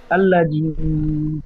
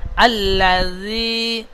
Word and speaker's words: الذي: আল্লাযী কাজ্জাবা ওয়া তাওয়াল্লা। আল্লাযী কাজ্জাবা বলে জাল অক্ষরটি জাইমের মতো পড়ছেন, যা কাজ্জা বলে জিমের মতন পড়ছেন।